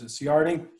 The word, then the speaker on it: Ciardi: most like an arch this marriage john i used to know his how to pronounce his name is ciardi most like an arch we start off with